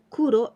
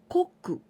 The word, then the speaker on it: 黒: so this means black the way to pronounce this kanji Kuro and also koku adding this candidin person